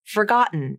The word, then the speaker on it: forgotten: in words like button forgotten and certain here the rule is if t comes between vowels and the t is unstressed and the end of